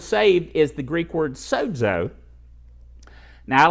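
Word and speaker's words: σῴζω: is s Ozio but in the official pronounciation of the Greek there's a little D in there so it's so though okay so so means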